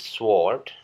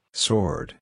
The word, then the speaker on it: sword: sering diucapkan dengan pengucapan sword atau Suede yang artinya pedang kata ini Seharusnya diucapkan dengan pengucapan sword sword Jadi bukan sword atau sweet tapi sword ya selanjutnya ada kata yang